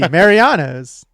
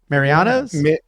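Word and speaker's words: Mariano's: Marianos. Marianos. Where's the E? There's no E when I say it. Marianos. It's like Mary. You're saying, well, I guess like Mary, like Maria.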